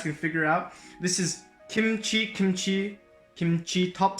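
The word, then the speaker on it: 김치: This one right here is pronounced ki. This one is pronounced m. This is pronounced ts. And if you combine that with this small letter over here, this Hangul, it's an H sound, like a ch. And this is E. So this is pronounced kimchi. Over here, this coincidentally is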